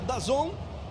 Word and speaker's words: DAZN: Pronuncia DAZN, mas se escreve D-A-Z-N, então Série C no DAZN para você participar.